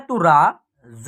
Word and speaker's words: तराजू: उसके बाद लिखा हुआ है त, ठीक है, र में आ की मात्रा है तो रा, ज में बड़ी ऊ की मात्रा है जू, इसका उच्चारण होगा तराजू। क्या होगा, तराजू।